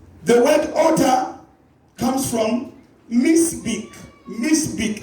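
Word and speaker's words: mizbeach: The word altar comes from misbek. Misbek. Let me pronounce it for you. M-I-Z-B-E-A-C-H. Misbek or Mizbeek. Mizbeek. If I were to pronounce.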